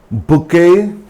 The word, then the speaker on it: bouquet: For example, ballet, waffle, bouquet, gum, and billet doux, the love letter, billet doux.